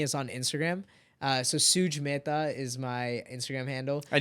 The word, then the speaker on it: Mehta: But Mehta is how you say it. So Mehta.